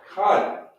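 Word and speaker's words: כן: Kan, which will be N-A, but we're going to drop the A, which will be kan, which means yes.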